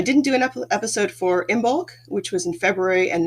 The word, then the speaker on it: Imbolc: But it's it, the Celts celebrated dairy at that point because in Imbolc, most people say Imbolc or Oimilk. I say Imbolc. That was how I was taught to pronounce it.